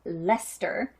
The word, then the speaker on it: Leicester: She told me I pronounced it wrong. It is British, of course, so they say it funny apparently. So blue-faced Leicester.